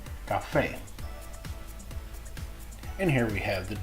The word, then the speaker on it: café: Any other time, it's pronounced just like a K, like in café.